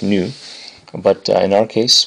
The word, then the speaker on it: nu: It's actually pronounced new but uh in our case well we can call it V.